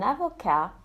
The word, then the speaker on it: avocat: Un avocat and une avocate, a lawyer. Un étudiant and une étudiante, a student. As you can hear, when the masculine ends in a consonant, that consonant is silent.